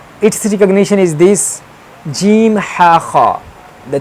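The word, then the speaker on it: ح: Mostly the kids of USA, UK, they read like ka, ka. That is wrong. It has special voice pronunciation like ha, ha. We have to pronounce from here.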